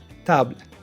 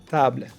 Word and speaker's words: table: It's also silent at the end of a word. For example, table, table, livre, livre.